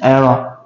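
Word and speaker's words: eran: Erno. Erno? Erno. Erno. E-R-A-N. Erno. Okay. Yeah. Still, I won't be able to pronounce it.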